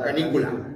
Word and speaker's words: canícula: Canícula con acento en la I.